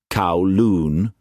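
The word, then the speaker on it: Kowloon: It was named Kolon. Cowoon. The traders pronounced it.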